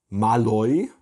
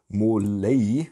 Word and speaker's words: Måløy: und in der nähe von marl würde der deutsche sagen in wahrheit wird der ort ausgesprochen wohl wenn ich das jetzt